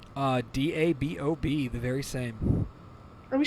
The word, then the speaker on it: Dabob: turn right around right around the town of Daybob. I didn't know that was a town. I didn't know anybody named anything Daybob. Okay. Spelled like it sounds? DABOB, the very same.